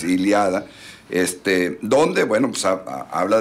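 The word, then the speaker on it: Ilíada: 800 antes de Cristo iliada o ilada iliada con acento en la iliada ilada iliada es iliada este donde Bueno pues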